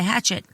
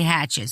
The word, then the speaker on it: Hachette: out right now by Hachette. Hachette. I said it right, didn't I? Hachette. Oh, Hachette, whatever. Hachette. Whatever. It's a Hachette. wow, everybody's going to say Hatchet, so fuck it.